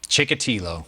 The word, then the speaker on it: Chikatilo: getting drawn how do we say his name chikatilo chikatilo chikatilo the Russian guy yeah oh you